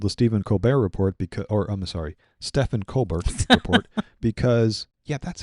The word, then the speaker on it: Colbert: This is the Shari Redstone who owns Paramount, who has recently canceled the Stephen Colbert report Stephen Colbert report because, yeah, that's how it's spelled.